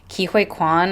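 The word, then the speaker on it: Ke Huy Quan: So the main male lead, which was Kihui Quan, I think is how you pronounce his name, at least in English speaking pronunciation.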